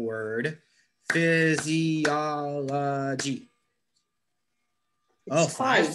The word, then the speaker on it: physiology: to try this one which uh which syllable was stressed physiology i think is a second physiology does someone want to help danila this is a hard one maybe o physiology yeah yeah it's actually the third syllable gets the stress